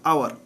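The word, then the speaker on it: hour: এইচ অনুচ্চারিত বা H silent. H ও ইউ আর আওয়ার, আওয়ার মানে ঘন্টা।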